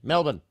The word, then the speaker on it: Melbourne: yes yeah m melbour melbour melbour m lbn Melbourne M that's how you pronounce it yeah Melbourne exactly ey in there so you can't mispronounce